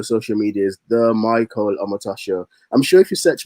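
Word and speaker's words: Omotosho: Omatosha is O-M-O-T-O-S-H-O. Omatosha. It sounds Japanese at times, but yeah, it's Omatosha.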